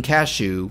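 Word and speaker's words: Kashue: this is when king cashew not spelled like the nut but pronounced like it uh who was like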